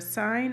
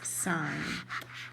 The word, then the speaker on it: sine: Do not pronounce this sin, it's sine.